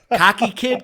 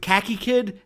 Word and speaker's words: Khaki Kid: Cocky kid. Like khakis. Khakis. Khaki. Khakis. Yeah. Khakis. Watch your pronunciation. Sorry, there, buddy. cocky. With Khaki Kid and Chameleon.